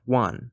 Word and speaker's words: 卍: It is pronounced wan, or referred to as wanzi, the wan character. It is a homophone for the word meaning 10,000, so using the swastika